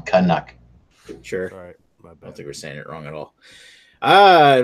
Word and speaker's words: Canuck: No, you're saying it wrong. Canuck.